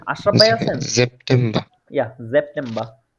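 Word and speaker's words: September: তারপরে আগস্ট আউগস্ট তারপরে সেপ্টেম্বর সেপ্টেম্ব এটা হচ্ছে জেপটে ঠিক আছে এজটাপটে এরকম জ এর মত উচ্চারিত হ্যাঁ হ্যাঁ জেপটে ওকে ফিলে জি আশরাফ ভাই আছে ইয়া জেপটে জি ভাইয়া আছে হ্যাঁ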